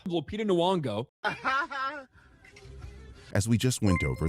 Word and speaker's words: Nyong'o: this, of course, but when you see that, you're either going to say Nyong'o or Nyong'o.